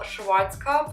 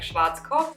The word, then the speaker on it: Schwarzkopf: way i'm using all schwarzkopf i don't want to say it in english like schwarzkopf that's how you pronounce it actually i'm using all